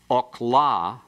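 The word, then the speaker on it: אָכְלָה: Notice that if you have okla, it's food. If you have akala, it's she ate. Notice the difference that the metheg makes. The metheg opens that syllable that in the first example is closed.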